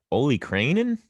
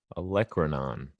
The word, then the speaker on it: olecranon: pronouncing it correctly too some people say holy cranin holy cranin olecranon is correct all right any questions